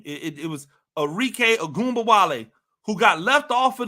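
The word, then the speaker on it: Arike Ogunbowale: it wasn't debated at nauseum on first take arque agba W that is how you pronounce her name it it was arque agumba W who got left off of the off the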